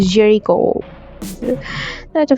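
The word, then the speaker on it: Géricault: এটা ওনার নামটা French. So French হওয়ার কারণে এটা নামের বানানটা হয়েছে হচ্ছে জেরিকো বানানটা হচ্ছে জিই আর আই সি এ ইউ এলটি কিন্তু উচ্চারণটা হচ্ছে জেরিকোটা ফ্রান্সের ফ্রেঞ্চ উচ্চারণ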